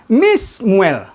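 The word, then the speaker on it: מִשְּׁמוּאֵל: Ya, nunnya hilang, ya, menjadi mi, se, muel. Ya. Jadi bacanya menjadi Mismuel.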